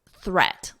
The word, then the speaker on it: threat: Now we have threat. Listen to the vowel, et. So it's the same as this. If you can isolate the vowel in de before you add the D, it's that So you can think of it as dead, threat.